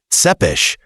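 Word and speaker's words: Țepeș: And when we mention Vlad Tepes, pronounced Tsepes, we're talking about the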